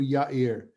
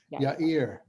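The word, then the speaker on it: יאיר: These verses, these few verses are what we have about this guy whose name is, I'm going to pronounce it as we would in Hebrew, Yair. Yair.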